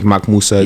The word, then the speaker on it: MacMuwsa: MacMuwsa. Yeah. Basically how you say it, that's how you pronounce it.